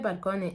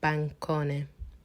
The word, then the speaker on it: bancone: Balcone is balcony. Just realized I might be mispronouncing this word. Balcone, I'm saying, but it's written bancone. I don't know why I'm putting an L, because balcony, yeah.